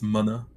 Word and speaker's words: mana: smartest dude the @u of the original pronunciation is in in hawaiian it's mana so funny enough that